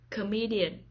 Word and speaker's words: comedian: the first syllable saxophone comedian comedian the stress is on the second syllable comedian comedian poet poet the